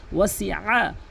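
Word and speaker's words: وَاسِعَ: ওয়াসিআ, এখানে ওয়াসিআ বলা যাবে না, ওয়াসিআ, ওয়াসিআ চাপ দিয়ে বলবেন হলকের মাঝখান থেকে।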